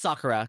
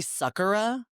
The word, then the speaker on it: Sakura: Sakura. Is it? So before I knew, I was saying Rock'em Sakura, but it's Rock'em Sakura. It's Sakura, kind of like soccer ball.